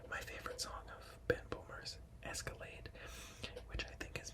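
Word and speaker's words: Böhmer: But his last name is spelled B-O with like two dots, the umlau over top. H-M-E-R, so like Ben Boomer or something like that.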